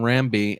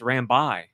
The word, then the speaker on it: Rambi: there was only one Rami and there's like two Rambi as their like. So we've been saying it wrong the whole time. It's Rambi.